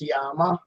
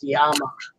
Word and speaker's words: llama: And Did you know that it's actually pronounced Yama? Llama. It's not pronounced llama. 2 L's is a Y in Spanish, and it's a Spanish word because they're from.